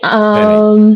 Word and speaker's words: Veni: Is your name pronounced Veni? How do you pronounce your name? Unmute first. Unmute. Oh yeah. Okay. Unmute. Yeah. How do you pronounce your name? Veni.